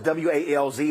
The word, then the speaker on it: Walz: So even though it's W-A-L-Z, it's pronounced Walz.